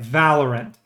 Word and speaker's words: Valorant: Valorant.